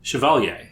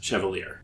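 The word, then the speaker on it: Chevalier: Shiovalier. Chiovalier pronounced by the worm fandom as chevier.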